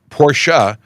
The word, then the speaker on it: Porsche: uh M says oh Emma says that she doesn't pronounce the ah in Porsche she says Porsche not porsa but I'm pretty confident pora is correct so somebody uh anybody